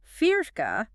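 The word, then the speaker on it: فِرْقة: Firka with a kazra. That little mark under the fa.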